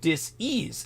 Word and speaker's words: dis-ease: Vicky Johnson says dis-ease as two separate syllables.